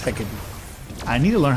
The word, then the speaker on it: Hecate: Hakati or Hecate? I think her name's Nick. I think it's pronounced Hecate.